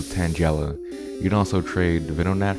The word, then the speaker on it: Tangela: It's Flagella and Tangled, so Tangela.